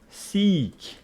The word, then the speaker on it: seek: So, we got two similar words kind of in pronunciation. One of them is sick, sick, and the other one is seek. Okay, so the pronunciation differs. Sick, seek, different.